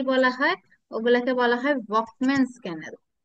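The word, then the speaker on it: Volkmann: ওগুলাকে বলা হয় ভকম্যানস ক্যানেল। কি বলা হয়? ভলকম্যানস ক্যানেল। ভলকম্যান না, ভকম্যান। এলটা উচ্চারণ হয় না, ঠিক আছে?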